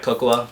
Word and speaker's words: Coco: So, and by the way, guys, it's pronounced Cocoa, not Coco.